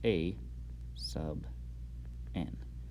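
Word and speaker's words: aₙ: It's pronounced a sub n, because n is a subscript.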